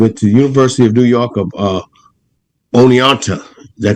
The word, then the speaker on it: Oneonta: He went to the University of New York of Oneonta.